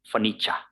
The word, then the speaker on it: furniture: buy some furniture furniture so r beforehand we will not pronounce obviously and are in the end before e so it is furniture furniture then it is lan